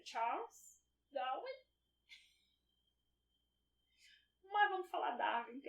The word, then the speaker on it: Darwin: Charles Darwin, né? Que as pessoas falam, mas eu acho que a pronúncia nem deve ser assim, deve ser Charles Darwin. Mas vamos falar Darwin, que é como todo mundo fala aqui.